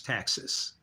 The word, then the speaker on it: taxis: And you actually spell it like taxi with an S, like taxis, but it's taxis.